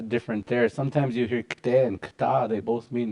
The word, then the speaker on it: kte: This is how you spell it. I'll just put it for you guys. Kte. KT. Kte. Kte. But it's almost like a TD. We're not saying kte.